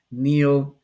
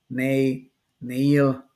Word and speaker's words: Neyl: know I go for three different ways to pronounce it it doesn't matter to me Neil nay Neil it's the same way